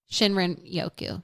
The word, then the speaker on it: Shinrin-yoku: Shinrin-yoku. Correcto. I don't know how to pronounce this.